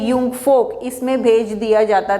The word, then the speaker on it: Jungvolk: जब बच्चे 10 साल के हो जाते थे तो उनको यंग फोक, देखिए JUNGVOLK, ठीक है, लेकिन इसका प्रोनाउंसिएशन है यंग फोक, इसमें भेज दिया जाता